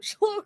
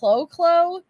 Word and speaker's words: Chlo: I'm saying it like that, Wolfie, because unfortunately that's how I pronounced it the first time Chlo came into my chat. And I said, "Oh, thank you, welcome, Chlo." And I think it was Shay had to say, "I think it's pronounced Clo."